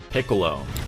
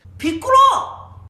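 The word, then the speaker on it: ピッコロ: So, what you do is you pronounce the first part of the word. You stop and then you pronounce the second part of the word.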